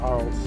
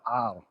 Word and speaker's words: Arles: It's basically Ar. Like, a lot of the letters are redundant, the way they pronounce it.